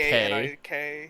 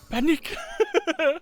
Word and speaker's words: panik: That is just how you spell it in Swedish, and it's also pronounced panik. Panic.